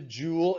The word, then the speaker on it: joule: It's not a joule from a jewelry shop. Okay, it's not a jewel that's made out of a gemstone. It's Joule, named after the great scientist James Prescott Joule, JPJ.